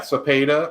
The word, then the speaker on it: Cepeda: Yeah, Cepeda. I didn't want to pronounce it wrong in case he's watching.